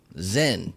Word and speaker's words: Zyn: that silly nonsense here's here's what's going on Zen you ever heard of it Z YN it's spelled well let me tell you there are